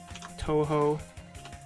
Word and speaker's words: Toho: I think I had pronounced... Oh my god, I don't even remember what I pronounced it as, but I definitely pronounced Toho incorrectly until like a year ago.